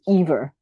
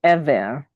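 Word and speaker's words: עֵבֶר: Okay, and then Hebrew vowels do not sound like English vowels, so you cannot pronounce them like you do English. It's like, because you would probably pronounce this ever, but it's ever.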